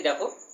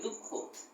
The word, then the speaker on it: দুঃখ: দু বিসর্গ খ, কি হবে দুঃখ, দু বিসর্গ যোগ খ, দুঃখ। এটাও দেখো খ দুইবার উচ্চারণ হচ্ছে দুঃখ, দু বিসর্গ খ, দুঃখ।